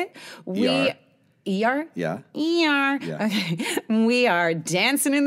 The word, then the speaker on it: Iyar: Iyar.